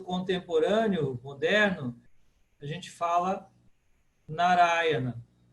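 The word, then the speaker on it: Nārāyaṇa: No sânscrito contemporâneo, moderno, a gente fala Narayana. Narayana. Ura é a tônica, porque ela é a primeira longa de trás para frente.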